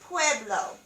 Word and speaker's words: Pueblo: p as in paul u-e-b-l-o that is pronounced pueblo and then apache apache excuse me apache indians